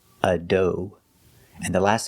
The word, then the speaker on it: adobe: Adobe is a computer program. Pronunciation, adobe. The first syllable is like up and cut, dough. The second syllable is o, long O, like go and show, adobe.